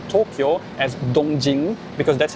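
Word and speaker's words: 東京: So it is very standard in Chinese to pronounce Tokyo as Dongjing, because that's how those two characters are pronounced in Mandarin, or to pronounce Kyoto as Jingdu.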